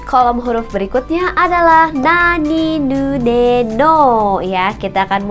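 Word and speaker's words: ニ: Jadi dua garis ini kalau dalam bahasa Jepang itu bacanya adalah ni ya.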